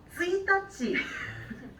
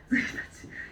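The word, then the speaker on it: 一日: 스이타치. 스이타치.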